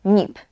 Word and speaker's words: NIP: Tutaj też czytamy ten skrót jak słowo NIP, nie jak litery, nie NIP, tylko NIP.